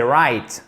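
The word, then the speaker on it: write: de la même façon on ne prononce pas à la française WR non c'est right ok en phonétique si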